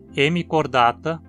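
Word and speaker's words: Hemichordata: A longo e, como ele cai na penúltima sílaba, a palavra é sempre paroxítona, como também em hemicordata, lofoforata e equinodermata?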